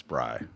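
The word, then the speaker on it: brei: it right I know matzah Bree matsubri I'm saying you're wrong no I'm not is he no Adam's right yeah I'm Jewish yeah it's Bry what's your favorite Jew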